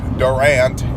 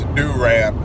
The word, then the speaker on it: Durant: And if you say Durant, you're saying it wrong. It's Durant.